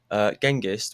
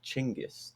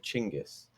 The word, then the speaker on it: Genghis: And another note, Genghis, which is actually pronounced Chinggis. Did you know that? Genghis, the real pronunciation is Chinggis.